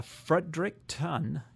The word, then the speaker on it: Fredericton: Yeah, Fredericton.